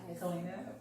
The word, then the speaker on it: Kaleena: Kaleena McMath. Am I pronouncing your name right? Kaleena. Kaleena.